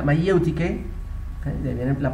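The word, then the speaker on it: μαιευτική: Mayéutica, que el griego se pronuncia mayéutike, ¿okay?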